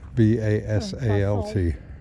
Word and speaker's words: basalt: Basalt? Is that how you pronounce it? Yeah. B-A-S-A-L-T.